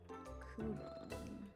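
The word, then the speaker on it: Khuran: Or sorry, Kuron. Sorry. K Hu R A N is spelled very unusually. Kuran.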